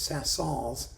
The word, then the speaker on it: Saint-Saëns: ever dreamed of Camille Saint-Saëns. Or some people say it's Saint-Saëns, and I don't pronounce the S, and therefore I'm evil and loathsome and vulgar, and you know, what can I tell you?